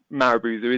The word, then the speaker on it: marubozu: And I apologize if I pronounce that incorrectly, but I believe it's marubozu, isn't it, Gerpel? That's how it's pronounced.